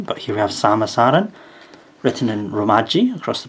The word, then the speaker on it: Samus Aran: but here we have samasaran written in romaji across the bottom and katakana if there's any doubt about how to pronounce her name there we are not seamus or anything this is a figure